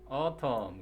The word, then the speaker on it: autumn: 자, 첫 번째 단어 이거 보니 autumn. 그래서 any 소리가 나지 않는 묵음이고요.